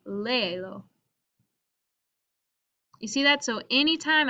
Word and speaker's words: léelo: So here, if I'm saying léelo, read it, I need to keep the stress in this syllable, so I'll accent my E, léelo.